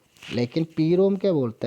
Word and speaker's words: PROM: The second one इज पी रोम, pronounce as प्रोम.